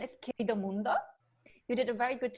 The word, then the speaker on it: Querido Mundo: say the name correctly okay so yeah the pronunciation is KP de mundo you did a very good job Teddy and